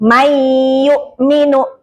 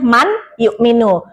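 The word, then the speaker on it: من يؤمن: Seakan-akan kedua huruf itu jadi satu kayak may yukminu kan aslinya man yukminu nunnya jadi hilang jadi mai langsung ee masuk ke dalam huruf ya.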